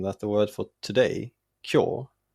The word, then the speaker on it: 今日: In one of my previous videos, I mentioned in passing that the word for today, kyo, used to be written and originally pronounced kefu.